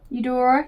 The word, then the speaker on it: Eudora: How do you pronounce it? Eudora? Eudora, yeah, that is Tiana's mama.